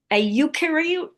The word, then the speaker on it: eukaryote: sorry, but together with every other, I cannot pronounce it, a eukaryote?